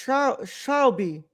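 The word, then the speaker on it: Charlbi: Oh, so it's pronounced Charlby, Charlby.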